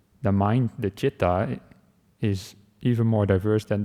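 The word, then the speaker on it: citta: Picture would be chitra, mind just chitta. But in Pali they are the same. They're technically different words, but they're pronounced the same. So he says, the mind, the chitta, is even more diverse than that picture, the chitta.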